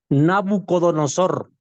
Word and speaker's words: Nabucodonosor: español es parecido no me acuerdo cómo se pronuncia Nabucodonosor Cómo Nabucodonosor perfecto Nabucodonosor el rey babilónico en realidad expulsó